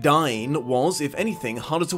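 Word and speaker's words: Dáin: "Dine." What? It's pronounced, "Dine." It wasn't in the film. D: Gandalf mentioning that...*sigh*... Dain (pronounced Dine) was if anything harder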